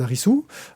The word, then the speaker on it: Arisu: ne laisse pas indifférent le jeune Harisu, et on devrait prononcer Alice.